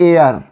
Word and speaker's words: heir: HEIR, HEIR हियर लोग पढ़ते हैं, लेकिन इसको पढ़ते हैं एयर, और एयर का अर्थ होता है उत्तराधिकारी।